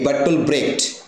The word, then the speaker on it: Bertolt Brecht: German মানুষ ছিলেন তো আমরা বার্টল ব্রেক করবো ব্রেকটাই সবচেয়ে একসেপ্টেড বাটল ব্রেকের লেখা গুড